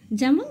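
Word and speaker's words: gem: Letter E আই ওয়াই। এর আগে যদি জি থাকে সেক্ষেত্রে আমরা জি এর সাউন্ড পাবো জমন জি এম ই এর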